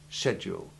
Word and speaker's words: schedule: It is pronounced just as if there were no C between the S and the H. Americans pronounce it with the hard CH, which admittedly is appropriate to the Greek word from which it derives, but English people use the soft CH2 sound. Listen to both pronunciations in this sentence. English schedules sound nicer than American schedules.